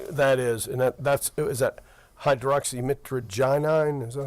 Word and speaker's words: hydroxymitragynine: And I think that is, and is that hydroxymitragynine? Is that how that's pronounced?